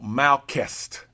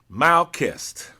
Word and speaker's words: Melkest: In the Aramaic tongue, the word used there for dominion is called malst. M A L ke S T. Malest meaning to exercise one's sovereign power.